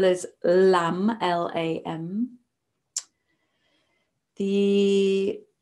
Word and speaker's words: lam: The root syllable is lam, L-A-M.